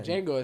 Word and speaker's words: Django: the best uh the Django the Django yeah yeah you know you watch Jango it says it has a d there um D Jango the D is silent and he tells yeah